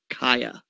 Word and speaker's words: Cieha: is the disappearance of kaia taylor and you spell her first name c-i-e-h-a yes that is pronounced kaya she disappeared february 6th